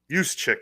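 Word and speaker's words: Juszczyk: look at Yus chick yuse chick is how you say it looks like Juck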